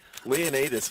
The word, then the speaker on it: Leonas: into the punch of Leonas DO you say leonus would be the correct pronunciation of that and yeah